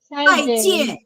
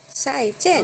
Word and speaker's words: 再见: 再见. Fourth tone. 再见. Okay. Yeah. Tap your table. 再见.